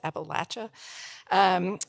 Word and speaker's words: Appalachia: farm in southern Appalachia which is the right way to say it by the way it's Appalachia and joining her tonight